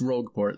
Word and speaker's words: Rogueport: I don't think there's any actual way to pronounce it. Anyways, that means you must come. Peach. It's Rogueport, that's how I've always said it.